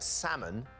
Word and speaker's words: salmon: question for you here what letter that appears in the correct spelling of the word salmon is silent linda l when the